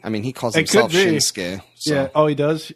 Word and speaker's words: Shinsuke: I think that they were probably just mispronouncing it back then. I mean, he calls himself Shinsuke.